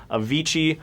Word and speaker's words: Avicii: Avicii rhymes with Sir Vici.